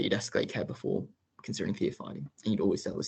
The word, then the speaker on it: theophylline: Yes, thiophyllene, theophylline, I think, Anush.